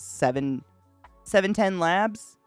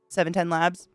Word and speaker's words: 710 Labs: brand i guess is seven labs i think is how you say it 710 labs and it is called